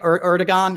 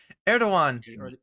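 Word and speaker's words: Erdoğan: the Turkish president right erigon I always say his name wrong it's not a hard erdogan yeah and uh and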